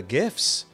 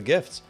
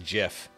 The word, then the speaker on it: GIF: gifts God Almighty it's almost time for the gifts gifts and Gifts you know no one's no one in the world knowing the world is going to tell me that it's pronounced Jiff be a Skippy jar before I open up